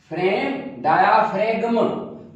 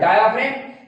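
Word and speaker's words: diaphragm: डायाफ्रेम, डायाफ्रेगम, जी silent आहे, डायाफ्रेम।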